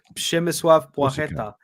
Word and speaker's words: Przemysław Płacheta: I can pronounce that one because he played for Śląsk Wrocław, the city I lived in. So it's Przemysław Płacheta.